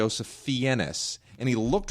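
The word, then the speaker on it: Fiennes: family thing all of a sudden it would R finds you want to have like a you know make it sound all distinguished no his name is Ralph fenus well well wait so his real name is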